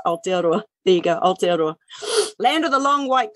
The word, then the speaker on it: Aotearoa: Was it who was it that said, could you pronounce Aotearoa? There you go, Aotearoa. Land of the long white cloud, for those who want to know what that name means, Aotearoa.